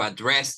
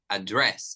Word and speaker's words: address: And here it's different. We say address. Mhm. So it's another intonation and it's a different setting.